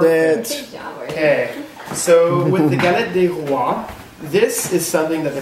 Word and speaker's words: Galette des Rois: Okay, so with the Galette des Rois, This is something that the Did you guys catch did. That? It's the fondue. Did I say it right? What is it? Exactly. Galette des Rois.